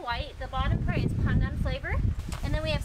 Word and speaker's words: pandan: Pandan. Pandan. Pandan. How did you say it? Pandan. It's so bad. Yeah, we pronounce it as pandan.